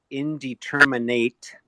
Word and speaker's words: indeterminate: So your indeterminate tomatoes, and be careful because depending upon how people pronounce it, you'd think there's an extra N in there, but it's indeterminate and determinate.